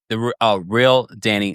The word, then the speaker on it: Danae: It's pronounced the real Danny Dan.